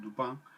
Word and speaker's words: Dupin: Auguste Dupin, que se escribe Auguste Dupin, en francés es Dupin, que es un típico